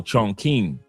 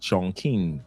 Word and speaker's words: Chongqing: It's pronounced Chong Chong. Oh, Chongqing. Shout out to Corporal being in the building watching from Andre's channel. He says pronounced Chongqing.